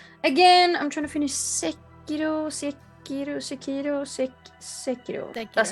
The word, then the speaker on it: Sekiro: Again, I'm trying to finish Sekiro. That's how you say it. Sekiro is how you say it.